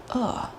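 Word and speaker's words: 饿: And then the second word is hungry. Uh. That's a down.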